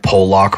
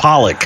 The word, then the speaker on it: Pollock: Road up in Delaware called Polack Road. Is it full of them? It's Polack. Whatever. It's Pollock. Huh. It's not Polack. It's Pollock Road. Idiot. It's spelled like it.